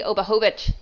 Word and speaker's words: Obahovich: Gracie Obahovich. Did I say it right? Yes, perfect.